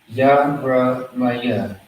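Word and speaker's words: ירמיה: YARA, the ma by itself, MA. And then we have the ya and the ha. So that's going to be ya. Exactly how it sounds. YAH. Now you gotta ask yourself, what does this word say? Yaramaya. Yaramaya. Yaramaya.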